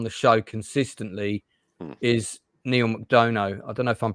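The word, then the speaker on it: McDonough: show consistently is Neil mcdono I don't know if I'm pronouncing that name right is it McDon I think it's McDonna McDon like Madonna yeah McDonna yeah that's how mcdor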